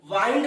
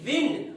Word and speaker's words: wind: जब यहाँ पे प्रोनाउंसिएशन WIND वाइंड रहेगा तो वाइंड मीन्स लपेटने। अगर यही प्रोनाउंसिएशन WIND विंड, विंड होगा, विंड मतलब वारा या हवा।